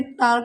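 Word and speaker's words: talk: के से पहले तो टॉक, इसे जैसे देखा है बच्चों को टॉल्क बोलते हैं, टाक बोलते हैं, पर ये टाक टॉक नहीं होता, ये होता है टॉक।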